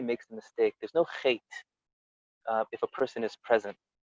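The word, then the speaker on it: חטא: And the Baal Shem Tov says that's why the word chait, we don't pronounce the aleph.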